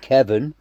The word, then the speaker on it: Kevan: name is Kevan kilo Victor Alpha November is pronounced Kevin silent a same as Kevin silent ey it's